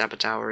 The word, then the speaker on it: Aberdour: I think it is actually pronounced Aberdour, isn't it?